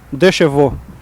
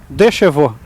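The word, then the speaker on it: deux chevaux: Okay, you just pronounced the word. I want you to say it again. Dechevaux.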